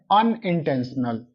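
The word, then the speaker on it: unintentional: य का साउंड है यहां पे है अनइटेंशनल अनइटेंशनल मर्डर अ का साउंड है वोवेल साउंड है तो यहां पे आएगा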